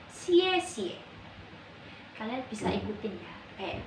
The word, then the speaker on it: 谢谢: akan belajar tentang xie xie xie xie bacanya Ciecie kalian bisa ikutin ya